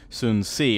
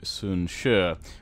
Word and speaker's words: Sun Jian: turns off there whoo I've been calling soon see apparently it's pronounced closer to soon sure or at least hopefully